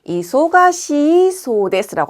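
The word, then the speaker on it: 忙しそうです: 간호와 니혼진다소데 간호와 이소가시소데스 여러분 뒤에 있는 C 뒤에 있는 E를 장음으로 발음해서이 부분을 놓치시는 경우가 있는데요. 그렇게 하시면 안 되고요. 반드시 이소가시소데스라고 하셔야 돼요.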